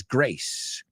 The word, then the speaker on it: grace: So it's grace. The second word is graze. Grace, graze. Grace, graze. They are not homophones. Grace rhymes with face.